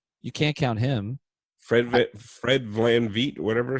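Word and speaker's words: VanVleet: Fred Van Vliet, whatever. Van Vliet. Yeah, we got to pronounce his name right first.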